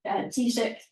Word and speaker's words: Taoiseach: Roll on 15 years, last October, I just asked Joe how to pronounce it, the Taoiseach equivalent, the Prime Minister of Sarawak, launched their net zero policy, big fanfare.